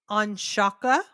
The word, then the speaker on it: Ongsiako: New York City Donna on Shaka okay uh yeah well no I I wrote it out phonetically because okay it's o n gs I a k o on Shaka of course yeah